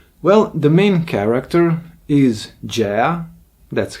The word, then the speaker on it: Gea: comic book about well the main character is Jaya that's how it's pronounced her name in Italian and uh she